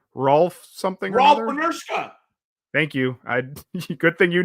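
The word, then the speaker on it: Rolf Benirschke: Rolf Benershka.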